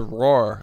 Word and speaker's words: Rohrer: So we've just Americanized it to Rohrer, like a lion. Okay, well, Jason Rohrer. Like just Rohrer, like one syllable.